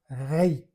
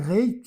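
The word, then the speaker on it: ריק: Aqui para dizer que o poço estava vazio, tem a palavra reik e tem uma palavra que é quase igual a pronúncia rac, que significa só. Ou seja, reik. E a palavra reik aqui para significar vazio, ela está escrita igual rac, só que a pronúncia é reik, vazio ou só.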